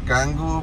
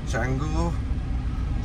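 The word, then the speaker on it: Canggu: from 25th onwards and it's actually spelled like gangu but local people call it changu so be remember and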